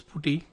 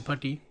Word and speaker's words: PuTTY: there an application called actually dis pronounced as party but in India people used to call this booty it is actually party because party some what we are naming in Kerala we don't use that patty pronunciation for the tool we call this booty here which is putty the tool which helps us to do telnet SSH remote login so that tool is an